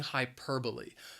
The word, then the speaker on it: hyperbole: they are just using hyperbole the word has four syllables and the stress is on that second syllable hyperbole now i think